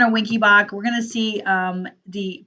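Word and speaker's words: Wenckebach: It's also called Mobitz 1, and it's also called Winky-Bach. It is pronounced Winky-Bach.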